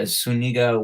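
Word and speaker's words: Zuniga: practice going to a suniga warehouse sale right now what's suniga you're the first person not to say my name wrong and even in a Spanish accent is yeah what else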